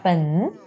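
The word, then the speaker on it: 焚: Se pronuncia pen, y en el fondo, en inglés se pronuncia burn, pen o burn.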